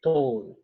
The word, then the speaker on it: tō: So, T-A-U, tāu, T-O-U, tō. So the emphasis on the vowels is quite important.